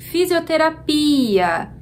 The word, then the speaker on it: fisioterapia: Qual é a sílaba mais forte? Fisioterapia. É o pi.